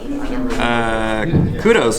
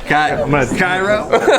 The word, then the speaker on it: Kyrö: First of all, Dallas, how do you say Gura? Kudos. No, Cairo.